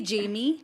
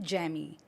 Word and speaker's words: Jamie: It's actually Jamie. Yeah. But my childhood years, growing up years, my parents mispronounced it and they called me Jamie.